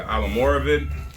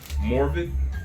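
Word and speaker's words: Almoravid: Depending on how fancy you are, this is either pronounced the Alamoravid, Morvid, or the Alamoravid.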